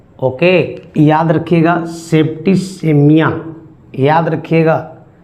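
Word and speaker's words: septicemia: रखिएगा वो मरे हैं सेप्टिकेमिया से। ओके, याद रखिएगा सेप्टिसेमिया, याद रखिएगा इसका जो प्रोनाउंसिएशन है वो सेप्टिसीमिया है। याद रखिएगा, सी के बाद यदि ई हो तो उसका उच्चारण स किया जाता है।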